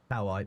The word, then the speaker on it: kawaii: You do pronounce the I at the end. It's how I cow I and cowi. Kawawaii. Kawaii. I'm just going to go with cow eye.